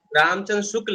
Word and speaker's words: रामचंद्र शुक्ल: नहीं कहती है, गलत बोल रहे हैं नाम। और शुक्ल रामचंद्र शुक्ल है, ठीक ना? उच्चारण सही से कीजिए।